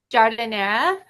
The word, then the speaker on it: giardiniera: I know I'm getting some vanilla bean, blackberry jam, blueberry jam, pasta sauce, and the garden, how would you say like Giardiniera.